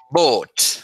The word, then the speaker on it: bought: Se dice bot, como una O larga, Oh, bot.